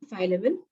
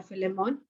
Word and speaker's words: Philemon: The prison epistles consist of Ephesians, Colossians, Philippians, and Philemon or Philemon, whichever way you want to pronounce.